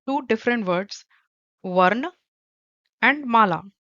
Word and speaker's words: माला: In Hindi, we call it dhwani, and mala is M-A-L-A. You can pronounce ma-la.